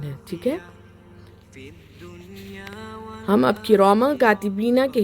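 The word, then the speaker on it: كِرَامًا كَاتِبِينَ: جیسا کاف پڑھیں گے تب اخفا ہوگا. آپ ہجے کرتے وقت میں میم 2 زبر من نہیں کریں گے، کیونکہ ہم کاف نہیں پڑھے. جب ہم کاف کے ہجے کریں گے تب ہم اخفا کریں گے، ٹھیک ہے.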